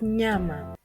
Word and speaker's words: nyama: The other sound is n and the equivalent sound in the English language can be found in the tail end of the word canyon. Kenyon or the grand canyon if you wish. And the sahili word to show us how it's pronounced is nyama nyama which is meat in English.